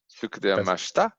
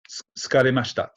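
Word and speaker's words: 疲れました: You can just put this verb into the past tense and Tsukudaremashita? Tsukaremashita. Tsukudaremashita? No, you're throwing in an extra syllable.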